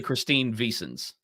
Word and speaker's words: Christine Vicens: But you've said it wrong every time, so I had to say it right. It's actually Christine Vicens.